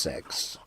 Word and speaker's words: CeX: It's actually pronounced sex.